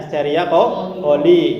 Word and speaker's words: Escherichia coli: Iya, terus di dalam usus besar nanti terdapat bakteri Escherichia coli ya, bacanya Escherichia coli ya, atau disingkat E.